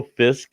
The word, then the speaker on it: fisk: actually does make sense now that I know Fisk is the proper pronunciation for fish yeah that's yep Oh Chuck